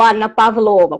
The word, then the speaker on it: Anna Pavlova: russa, ou cisne russo, Anna Pavlova, ou Anna Pavlova, como se pronuncia o seu nome Anna no Brasil.